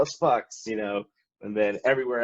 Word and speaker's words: Fux: It would be like, yeah, we are Fuchs from Atlanta, Georgia, but fuck it, you can call us Fucks, you know.